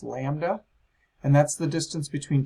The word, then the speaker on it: lambda: It's this kind of funny looking curvy Y thing, pronounced lambda, and that's the distance between 2 identical parts of a wave.